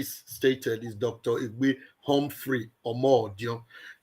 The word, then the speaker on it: Omodion: Egbe Humphrey Omodion. A lot of people like to call me Omorodion, but I'm a Benin man and it's pronounced Omodion.